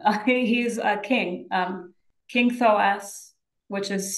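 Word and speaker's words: Thoas: I have him he's a king um King thos which is spelled t h o a s thank you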